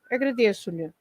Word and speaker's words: agradeço-lhe: So it's the same as without this lhe or tu, and then you just add this lhe or tu or se or any other. So so the penultimate syllable rule doesn't apply.